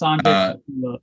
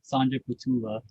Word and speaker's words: Sanjay Pothula: It is March 23rd, and today we have a guest speaker event with Sanjay Pothula. If I'm pronouncing that correctly, Sanjay, you can correct me or? Yeah, it's Sanjay Pothula. Sanjay Pothula.